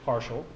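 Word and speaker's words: ∂: deal looking thing but it's pronounced partial and yes that is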